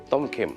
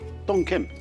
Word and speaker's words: Tom Khem: Tom Khem. Tom Khem. Tom Khem. Tom means boy. Khem means salty.